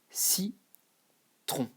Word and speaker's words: citron: Don't forget, O plus N is on. It's not on. You never say, when you see that, you don't say n. There is no n. Your tongue and your nose, don't meet and put the n. There is no n. Just on. Okay?